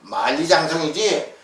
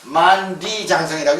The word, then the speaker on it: 만리장성: 이게 만자고 리자니까 만디가 아니에요. 말리기요. 말라고 이래요. 만리장성이지 만디장성이 아니에요. 만리장성. 이렇게 써놓으면 만리장성이지 만디장성이라고 읽으면 안 되는 거예요.